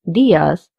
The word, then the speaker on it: días: This word, días, has an accent on the I. This means we have to stress on this I, so we say días instead of días.